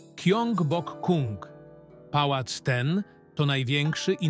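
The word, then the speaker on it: 경복궁: Nazwę pałacu wymawia się po polsku jako Gyeongbokgung.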